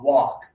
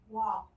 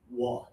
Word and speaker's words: walk: A lot of students pronounce the L, but the L is not necessary.